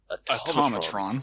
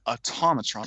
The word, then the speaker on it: Automatron: Right now, we're gonna discuss the Automatron, or how's it actually pronounced? Automatron. Repeat after me. Automatron.